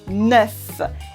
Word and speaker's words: neuf: what's funny is that the pronunciation of neuf sometimes changes, a bit like la liaison. For example, we'd never ever say 9 heures, we say 9 heures. So the F makes a V instead of an F sound.